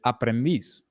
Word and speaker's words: aprendiz: So, does it end in a vowel or the letter S or N? I don't think so, actually. Yeah. It doesn't. So it must be this one, right? The final syllable, right? So it's not aprendiz. It's not aprendiz. It's aprendiz, right?